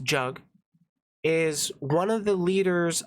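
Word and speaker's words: Jagmeet: those that don't know jug meet Singh yes it's pronounced jug is one of the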